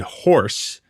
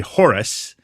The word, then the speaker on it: Horace: He is playing a Native American named I thought they said Horse, but it's actually Horace.